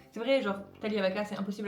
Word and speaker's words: Taglia: C'est vrai, genre, Talia c'est impossible à prononcer. Déjà, on prononce pas le G, c'est un nom italien et on prononce pas le G.